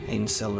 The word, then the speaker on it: Ainsel: This one, pronunciation, I feel, would be like, it gives me like a Hansel, like an Ainsel kind of vibe. Okay, we didn't go down as deep as Sheofra. Ainsel River.